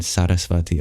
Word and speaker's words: Saraswati: And the second syllable in Saraswati also has a higher pitch.